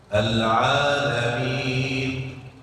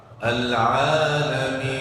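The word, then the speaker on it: العالمين: Ingat, nun tidak boleh tutup mulut. Al-Alamin, tidak boleh Al-Alamin.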